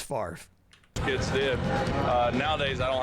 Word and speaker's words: Favre: But it's pronounced Favre.